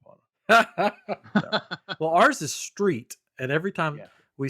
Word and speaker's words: Street: Well, ours is Street, and every time we say Ryan Street, they go, "How do you spell that?" And I'm like, like the road you drive on?